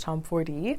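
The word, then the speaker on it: Tomforde: pick up something by Liz tomford or I heard it's actually pronounced Tom Ford So currently I'm in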